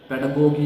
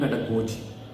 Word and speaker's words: pedagogy: Actually, this word has got two pronunciations, pedagogy and pedagogy. Both of them are right, I feel. But most of the people use pedagogy, so itself I also use pedagogy.